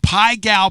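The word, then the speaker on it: Pai Gow: Oh, Pai Gal Poker. Thank you very little. Pai Gal. It's spelled P-A-I-G-O-W Poker.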